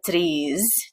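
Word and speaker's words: tatreez: style of palestinian embroidery called the trees it looks like such trees t-a-t-r-e-e-z that these is what people think that these i think is how they're pronouncing it and um a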